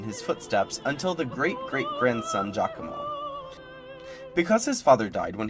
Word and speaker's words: Giacomo: Edward Zilberkant explained in his pre-concert lecture that in Italian, when you have the letters G-I-A, you pronounce it Gia, like the beginning of John.